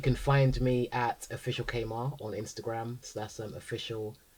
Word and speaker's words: Kemar: So, it's not It's Kmart. Yeah. People say Kamar, people say Kmart.